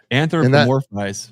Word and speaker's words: anthropomorphize: in a anthropomorphizing, however you say that word, anthropomorphizing. How do you say it, Greg? Anthropomorphize.